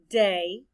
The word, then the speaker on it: day: The letters A-Y stand for the long A sound.